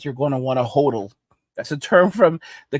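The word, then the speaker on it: HODL: going to want to hodal that's a term from the cryptocurrency community hodal it mean it stand it means hold but they say hodal so they spell it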